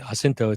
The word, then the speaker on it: Jacinto: So the main character in this series is a young man by the name of Jaco Jacinto, to use the Spanish pronunciation, and his family came to the United States from Spain via the Netherlands and settled in Charleston.